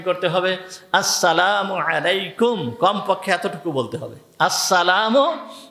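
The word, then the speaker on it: السلام عليكم: সালামু আলাইকুম। সালাম দিছে কি? সালামু আলাইকুম। এইগুলো সুন্নাত অনুযায়ী সালাম হবে না। সালাম দিতে হবে। সালামটাকে ঠিক সুন্দরভাবে উচ্চারণ করতে হবে। উচ্চারণ কি? আসসালামু আলাইকুম।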